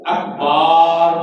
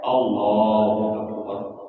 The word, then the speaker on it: اکبر: وہ یوں کرتے ہیں اکبر کو اکبار پڑھتے ہیں، نعوذ باللہ۔ اکبار کا معنی ہوتا ہے ڈھول، بالکل معنی ہی تو تبدیل ہو جاتا ہے، اس لیے یہ تلفظ کا سیکھنا بھی ضروری ہے۔ لفظ کیا ہے؟ اللہ اکبر، بول کیا ہے؟ اللہ اکبر، اللہ اکبر، اللہ اکبر، نہ اللہ اکبر ہے، نہ اکبر ہے، نہ اکبار ہے، صحیح بات کیا ہے؟